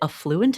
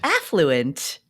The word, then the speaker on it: affluent: the afford anything Community you pronounce it affluent and not affluent yes whoa tomato tomato No it's a fluent affluent affluent affluent it's affluent so marketing to the